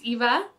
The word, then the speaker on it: Eva: My name's Eva. Hi! Nice to meet you Yes, it it rhymes with diva.